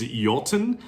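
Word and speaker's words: Iotunn: Next up, we've got a great one, and this is Jolten. I'm pretty sure that's how it's pronounced, despite the alternate spelling with the I and the O at the beginning.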